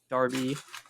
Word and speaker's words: derby: or in the English the British English Supernatural pronounced uh Darby is what I've learned although I've heard it